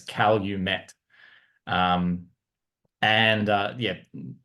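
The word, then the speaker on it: Calumet: um but the states they actually pronounce it as Cal you met um and yeah not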